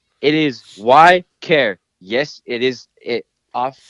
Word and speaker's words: Ykare: i was like what how do you say your name why care and you're like dude no way the only person that said it right i was like hell